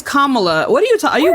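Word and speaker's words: Kamala: dead Grandma to vote Camila what are you what are you talking it's kamla what are you are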